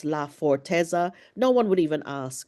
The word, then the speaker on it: Laforteza: It's Laforteza.